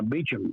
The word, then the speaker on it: Beauchamp: He had a friend out in California named Beecham, Beauchamp. He pronounced it Louisiana style, but he was dentist to the stars.